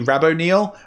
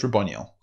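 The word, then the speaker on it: Raboniel: is ronel yeah and I don't know how to say it it could be Rabon Neil I don't like Rabon Neil so it's ronel okay Co um and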